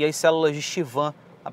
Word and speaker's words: Schwann: O professor Moore, que escreve livros de embriologia, a pronúncia correta é células de Schwann e não Schwann.